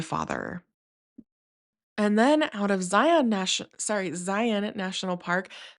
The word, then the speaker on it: Zion: call it Zion National Park, not Zion. Um, now, do I correct other people when they say Zion? No, because to me, it really doesn't matter. Um, but if someone asked me like the right way to say it, I'll say this is what I was told. So, I was told it's Zion National Park.